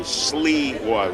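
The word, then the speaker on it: Sliwa: S-L-I-W-A. Sleewah would be pronounced S-L-E-E-W-A-H.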